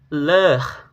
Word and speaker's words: leur: Untuk pengucapannya yaitu seperti bunyi E dan lebih terbuka daripada E yang sebelumnya. Contoh kata yaitu leur, lalu kata sœur, dan kata œuvre.